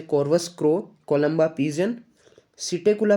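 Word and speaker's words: Psittacula: Corvus crow, Columba pigeon, सिटेकुला Perot, P silent year, ठीक है ना, पेवो पिकोक हो गया।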